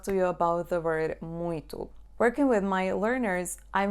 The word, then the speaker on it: muito: So you should pronounce it like a nasal U. Muito, muito.